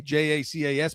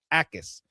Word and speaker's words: Jacas: They got edge in Gabe Jacas out of Illinois, and it's with a J, Jacas, but it's pronounced Jacas, Gabe Jacas.